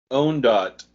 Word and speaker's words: Ondot: You don't pronounce Ondot. No, we don't pronounce the T, right? Ondot. It is a T. It's hard.